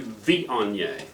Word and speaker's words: Viognier: We're closer to Viognier. So we're kind of like a Vion, and then Y-E-A-H, yay, and Viognier.